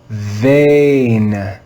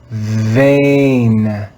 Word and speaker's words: vein: read this word together vein vein vein just because the digraph is written e i does not mean it's pronounced like the e in receive the e i digraph